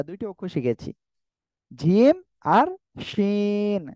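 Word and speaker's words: شين: কি শাসা শব্দ করে জিহ্বার মাঝখান তার বরাবর উপরে তালুর সঙ্গে লাগিয়ে শাসা করে উচ্চারণ হবে সিন তিন আলিফ টান হবে আমাদের এই অক্ষরে শিন ঠিক আছে কয় আলিফ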